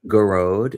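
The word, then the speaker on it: Gearóid: I also know Garode is a really popular Irish name, and they shorten it and give the nickname Gaz. Garode is Gearoid.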